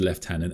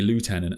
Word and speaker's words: lieutenant: A Games Workshop have said that they think it should be said left tenant and they do make the game.